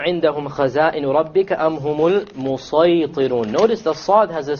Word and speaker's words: الْمُسَيْطِرُونَ: So this is to show you, you can use a seen here, but it's, a sad is preferred. It is better to pronounce it as a sad.